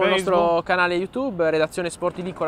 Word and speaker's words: SporTiVì: ricordiamo YouTube ricordiamo il nostro canale YouTube redazione sportivi con l'accento sulla i e anche la pagina Facebook